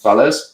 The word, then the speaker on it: Valles: Hakeem, how do you say last name? Valles? Yes. Yeah. Hakeem Valles.